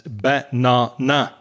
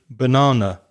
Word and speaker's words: banana: It may be pronounced by non-native speakers as banana, all the vowels strong. But no, we don't say it like that. We say banana.